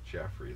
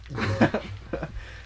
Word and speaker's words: Joffrey: Can it be pronounced Jeffrey, though? No, that's my more name's J-E. Joffrey.